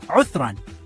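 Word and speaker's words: عذرًا: Udhran. That's pronounced Uthran.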